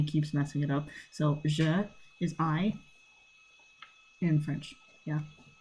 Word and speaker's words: je: Okay, so the first one is je under the French side, and then I, so the letter I, this is I in sign language, on the English side.